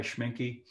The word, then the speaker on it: Schmincke: have any other colors in my palette by schmincke schwinky's a very good brand i think it's